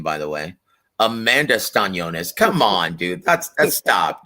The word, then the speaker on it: Eimantas Stanionis: and our brother Sid UK says, who does Coach see winning between Vergil and Eimantas Stanionis? That's how I say his name, by the way. Eimantas Stanionis.